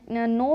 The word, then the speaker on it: know: जैसे नाइट में एन के बाद आई, एन नो में एन के बाद ओ और उसी तरह नाइफ में एन के बाद आई है।